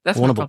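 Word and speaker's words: Warrnambool: there like yeah yeah warnable you don't have to pronounce all the letters just let it it's almost one syllable warable problem yeah okay yeah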